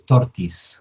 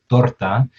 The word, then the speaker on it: torta: Now, Callie as Alex references tortis, which is basically a mispronunciation of the word torta. Uh, Maybe in Spanish, in the English, with the English sound, it's torta.